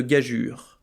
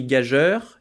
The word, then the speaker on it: gageure: vers à part peut-être la prononciation de gagure on dirait que ce mot s'écrit gageur et c'est d'ailleurs souvent comme ça qu'il est prononcé mais c'est un piège le E est là pour changer le le G en J et non le U en e ni l'E en vain je vous vois venir c'est